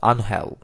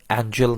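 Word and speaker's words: Ángel: নিচ্ছেন অ্যানুহেল Di Maria অবশ্য বাংলা উচ্চারণটা আনহেল ইংরেজিদের নামের বানানে এঞ্জেল অনেকে উচ্চারণ করেন এঞ্জেল নামেই ডিমারিয়া অ্যাঞ্জেল রূপে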